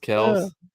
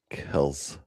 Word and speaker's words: Kelce: It's pronounced Kells. Kells.